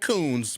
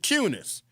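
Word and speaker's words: Kunes: To me, it looks like Coons, but they pronounce it Cunis.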